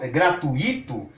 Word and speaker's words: gratuito: Então, se as pessoas saírem por aí e quiserem pronunciar intuito, circuito, gratuito ou fortuito, sem problema nenhum. Nós estamos sugerindo que sejam pronunciadas de acordo com muito, certo?